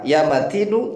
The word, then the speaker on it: يَا مَتِيْنُ: Perhatikan cara membacanya. Ya qawiyu, yu-nya dibaca, ya matinu, nu-nya juga dibaca.